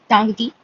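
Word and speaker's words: Ntangki: I don't know how if I have pronounced it correctly or not but it's tangiti so with a n it is somewhat silent.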